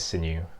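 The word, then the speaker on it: Xin: mean my name is sinew and you can call me sin although spelt with an x not an s i'm a phd neuroscience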